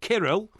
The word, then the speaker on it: Kirill: So it's Cyril, isn't it? No, it's Kirill. Yeah, it's a K.